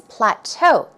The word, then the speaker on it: plateau: the verb forum it's Plateau stress goes on the second syllable or especially in British